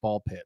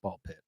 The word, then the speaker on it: Ball x Pit: So do your thoughts on Ball Pit and it having the X and not pronouncing the X. I'm glad to know that it's just Ball Pit, that it's pronounced Ball Pit, because I was confused myself.